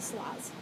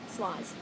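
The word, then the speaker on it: sarloz: on Ravelry as SAR Rosie s-a-r-l-o-z um I pronounce it slaws you can boss them you know pronounce our eyes so slaws um it's a username I use for everything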